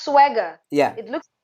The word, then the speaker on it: Sserwanga: it's pronounced swagger. Yeah, It looks like Sserwanga, but it's actually pronounced swagger.